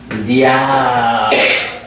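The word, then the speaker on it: ñāya: 요 물결무늬가 있는 거는 그 좀 특별한 발음이기 때문에 특수부호를 붙여주는데 요거는 니아라고 읽어요.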